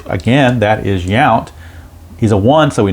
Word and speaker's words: Yount: rather five five on where that young came from but it's yount and that's a fly to right no matter how you pronounce it so one two three